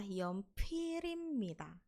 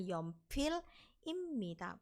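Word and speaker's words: 연필입니다: Kemudian ada imnida, kalau digabung bacanya adalah yeonpirimnida. Yeonpirimnida. Oke, bukan yeonpil imnida, bukan ya, tapi disambung. Yeonpirimnida.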